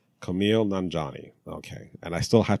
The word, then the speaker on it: Kumail Nanjiani: And Kumali, and I really practice. And I even listen to this. I'm like, how do I pronounce his name? Kumail Nanjiani.